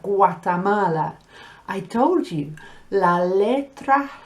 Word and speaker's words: Guatemala: When you have G-U-A, it makes a gua sound, just like agua. So you have Guatemala.